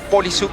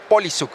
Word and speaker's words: Poliszuk: Te agradezco mucho, Polisuk, ¿verdad? Así se pronuncia tu apellido.